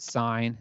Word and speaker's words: sine: equals 0.422 i know i know it looks like it's spelled sin but we pronounce it sine there's technically an e this is an abbreviation